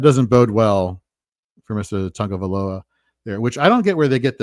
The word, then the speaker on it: Tagovailoa: Do we know how it's correctly pronounced? Tagovailoa.